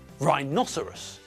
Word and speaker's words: rhinoceros: Well, there it's a 4-syllable word, but the apostrophe shows us that the stress comes on the second syllable. Rhinoceros, not rhinoceros, not rhinoceros, and not rhinoceros.